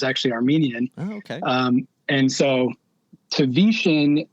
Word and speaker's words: Tavetian: if you're reading it it's like a tv hitting your shin i don't know if